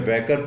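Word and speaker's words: Wacker: इसके अलावा यहाँ पर इनके यूजेस में एक रिएक्शन है, वो आप ध्यान रख लेना बेटा, वो है वैकर प्रोसेस और वाकर प्रोसेस, जैसा भी आप प्रोनाउंस करें, वाकर प्रोसेस।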